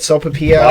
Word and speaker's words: Sopapilla: Sopapilla. Pop it. Smack. Twist it. So, a Sopapilla is like a pastry, basically. It's made by the 903 Brewers, which is a brewing company. It's honey pepper and Sopapilla flavored cream ale, 6.5% alcohol.